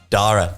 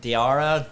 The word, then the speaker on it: Daire: Fuck, man, you get Daire, Diara, diarrhea. I've had everything.